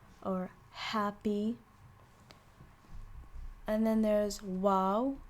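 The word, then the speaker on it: واو: happy and then there's wow which you pronounce as oo it is a vowel and you have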